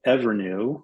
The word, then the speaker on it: Evrnu: of a of a company that's called ever new which is spelled evrnu um they were tackling